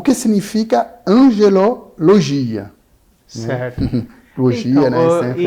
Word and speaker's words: angelologia: O que significa angelologia? Certo. Logia, então, né? Sempre é a lógica, né? Muita gente acaba falando errado o nome dessa disciplina, né? Chamando de angeologia. Angeologia não é a pronúncia correta, porque angio vem de coração, de coronárias.